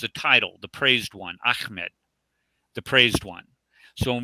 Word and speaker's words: Ahmed: Ahmed, not Muhammad. Yes. It's Ahmed. Right. Ahmed. A-H. And then M-A-D. Yeah, it's hard to pronounce in English, I know, because the letter Ha is not in English.